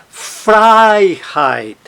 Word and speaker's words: Freiheit: Então, por exemplo, veja só na palavra Freiheit, Freiheit. A sílaba tônica não está no heit, o heit é átono, a sílaba tônica está em outro lugar.